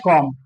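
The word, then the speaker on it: comb: अब देखो डियर एक वर्ड है आप देखते हैं कॉम इसको पढ़ेंगे कॉम बी साइलेंट होता है। बी से पहले क्या है? बी से पहले कंसोनेंट है। कोंसोनेंट से पहले वोवेल है। इसीलिए यहां पर इस वर्ड का प्रोनाउंसिएशन आपको नहीं करना है। तो लिखेंगे स्पेल होगा सी ओ एम बी बट बोलेंगे कॉम।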